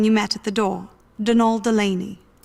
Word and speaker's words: Donal: That's the man you met at the door, Donald Delaney. Not Donald, mind you. There's no D at the end, so it's pronounced Donal.